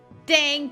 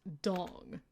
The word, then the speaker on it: Dang: or should I say dang Peter it's pronounced dang Peter no so somebody finally said it technically it's pronounced dong I know but this